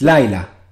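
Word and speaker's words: לילה: l yes again Laya yes but you put the stress on the uh first syllable L yes Laya Laya okay you say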